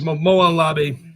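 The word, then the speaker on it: Molon labe: I'm not sure how it's pronounced. Labe, I think. I think it's Labe, but Yeah, it's Molan Labe.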